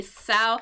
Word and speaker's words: sow: I know the pronunciation of that is a little bit weird because sometimes this word is pronounced like so, right? So with like a needle and thread, but here, sow, name of a female pig, same spelling.